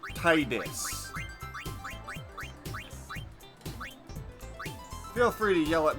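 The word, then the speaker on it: Tidus: course all right now there are so many different ways people pronounce the character I'm just going to go with the way I've always pronounced them my character's name will be tiis people pronounce it tetus people pronounce it Titus I'm going to solve the debate right now and call my character Titus Feel free to yell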